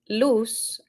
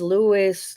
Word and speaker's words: Luz: name loose means light so it would be LZ Louis Lou and I I would